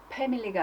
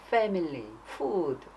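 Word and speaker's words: family: 패밀리가 아니라 패밀리.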